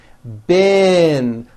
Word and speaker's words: been: b e e n spelled with a double e is pronounced with a low e sound bin like in the word hit okay even though it's